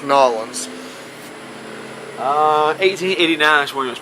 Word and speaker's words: New Orleans: But for anybody who doesn't know, New Orleans is pronounced Nolans.